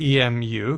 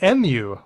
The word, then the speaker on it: emu: And I found that the dictionary that I looked it up in said that MU was also a valid pronunciation.